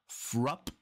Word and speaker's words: Fruupp: with the band called frup and there's a Double U and a double P so I think this is this is the way you pronounce it frup and this is called